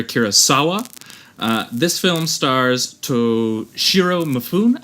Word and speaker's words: Mifune: This film stars Toshiro Mifune. I don't know if that's how you say it. Chris, you might know better than me. Mifune. Mifune. That sounds a lot better.